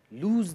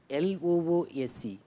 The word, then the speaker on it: lose: If you are not alert, you will lose the chance. This is a common error. It is not LOOSE. This loose is like your trousers is getting loose.